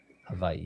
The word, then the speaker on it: Hawaii: Apparently the W makes a soft V sound. Hawaii.